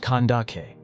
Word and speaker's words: Kandake: In ancient times, Ethiopian queens were commonly named Candace, pronounced Kandake.